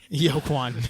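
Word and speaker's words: Joaquin: joker is that uh in like uh uh yokwan phoenix's pronounce it that way yo kwon yeah um but it's like he's arthur fleck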